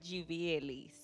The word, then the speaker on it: Givielis: My name, just like Nileshka, is only pronounced in Spanish because I was made in Spanish. And that is Givielis.